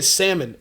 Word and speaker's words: salmon: But like imagine eating salmon every day. And no, I didn't pronounce the L.